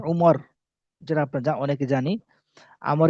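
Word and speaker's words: عمر: এতটুকু আচ্ছা বিশেষ দেখেন আমরুন শব্দের শেষে ওয়াও থাকলে উচ্চারণ হবে আমরুন আর ওয়াও না থাকলে উচ্চারণ হবে ওমর যেটা আপনার অনেকে জানি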